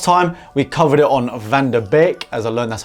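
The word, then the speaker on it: van de Beek: Last time we covered it on Van der Beek, as I learned that's how you pronounce it.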